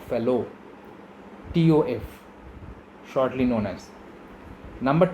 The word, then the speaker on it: Fallot: The spelling or pronunciation is not Fallot, it is tetralogy of Fallot, TOF, shortly known as.